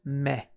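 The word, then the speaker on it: 目: it's usually the case the reading for this kanji is May a good way to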